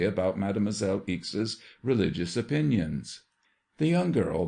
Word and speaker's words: Ixe: Her name, rather peculiar, is Eeks. did you say? Yes, it is spelled IX E. Evelyn says it should be pronounced like in weeks, but we don't know whether it is a French or a German name.